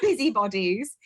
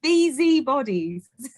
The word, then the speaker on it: Busy Bodies: pronunciation of busy bodies it's not busy bodies it's beezy bodies although so i guess